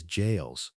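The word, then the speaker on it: gaols: Prisoners in London jails, and even though it's spelled with a G, it's pronounced as jails, fought battles with their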